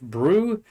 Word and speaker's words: BRU: His nickname BRU pronounced Brew.